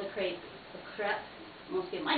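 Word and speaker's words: crêpe: French as you know called The Crepe the crep most people might not know that but it is true it's actually pronounced crep and it has that little circumflex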